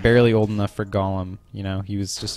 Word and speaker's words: Golem: he was just like barely old enough for Golem. You know, he was just a little baby. This is Golem. Golem was a creature in Golem.